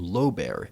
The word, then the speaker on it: Lobear: educated and sort of illiterate he spelled and pronounced his last name low bear l o b e a r which is